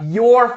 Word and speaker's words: you're: Bota aí na tela, you're funny, ok? Essa é a pronúncia. You are, vira contraído, you're funny.